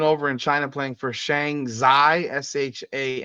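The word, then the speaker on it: Shanxi: Kelsey Mitchell's been over in China playing for Shang zai sh a n z XI that's how you pronounce it Shang zai and right now her team is 15 and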